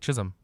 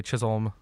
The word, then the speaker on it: Chisholm: so many things it's like it literally says chiz um like chisholm you can say chisolm whatever you want to say either one but chisholm i don't know